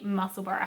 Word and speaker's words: Musselburgh: This is a Musselboro hat. Spelt Musselburgh, like Edinburgh. Edinburgh is spelled Edinburgh, but it's pronounced Musselboro, like Edinburgh.